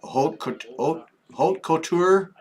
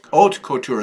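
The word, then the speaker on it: haute couture: Holt couture embroidery. Do you say the H? No. Our oat couture.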